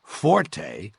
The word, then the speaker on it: forte: The Italian word forte, Forte, used in music notation, is pronounced forte, and it instructs the musician to play loud.